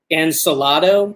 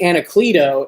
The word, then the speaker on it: Anacleto: But Jay Anacleto, I believe, is the correct pronunciation of this guy's name.